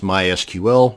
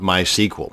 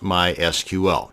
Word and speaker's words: MySQL: to create a mysql database and yes it's pronounced mysql not mysql so the next time you're at a dinner